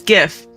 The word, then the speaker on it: GIF: G stands for graphics, so I say hard G. GIF. See, I almost said GIF. It's because I said the letter G before. I think it's the way that G is pronounced. But it is GIF. And like the creator of the file format also said it was GIF.